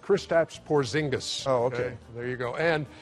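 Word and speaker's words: Kristaps Porziņģis: and what's what's tip number four oh it's pronounced kristaps porzingis okay there you go and and what is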